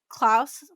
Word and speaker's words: Klaus: But also, why didn't Klaus, I said it right? Klaus. You said it right the first time.